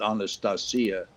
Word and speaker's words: Anastasia: Um, I did a show I did uh, Americans call it Anastasia, but we we called it Anastasia, which is the Russian uh, pronunciation of it.